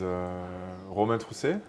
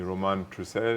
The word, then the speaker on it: Romain Trousset: So, like you said, my name is Romain Trousset, if I want to pronounce it with a French accent. I was born and bred in France. If you call me Romain Trousset, I also answer.